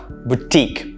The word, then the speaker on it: boutique: the second one but the first syllable is pronounced boo instead of bow right boutique not boutique no boutique that's how you pronounce